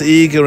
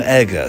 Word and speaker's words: Eger: still alive at 97 I've heard it pronounced eager and eggar so I'll do it both ways uh to be totally